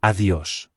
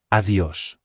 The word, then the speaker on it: adiós: Adiós. Remember that I in Spanish is pronounced E, and there is an accent on the O, so the stress needs to be placed there. Adiós.